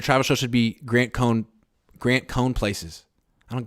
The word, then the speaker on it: Cohn: show should be Grant cone Grant cone places I don't get it Cohen places oh yeah I don't pronounce my name that way though but yeah it's funny